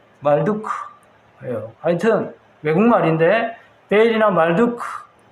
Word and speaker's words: 말두크: 말뚝이 나오면 한국말 같지만 무슨 말뚝이 아니고 말둑이에요. 원어예요. 영어로 M-A-R-D-U-K. 조금 이 영어 발음을 하면, 외래어 발음을 하면 말둑이 아니고 말두크예요.